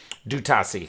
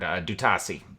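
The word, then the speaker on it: D'Utassy: Dutasi is how you pronounce the colonel of the Garibaldi Guard. Dutasi.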